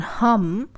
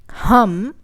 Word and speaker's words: hum: In the next one, we're going to use the plural pronoun hum, which is we. Hum, like a hummingbird.